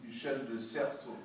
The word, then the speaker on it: Michel de Certeau: There's a The Practice of the Everyday by the Jesuit Michel de Certeau. Somebody pronounced the French better than I did. Michel de Certeau.